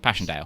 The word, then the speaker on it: Passchendaele: I'm bad at pronunciation. You mean Passchendaele? introduction. Passchendaele.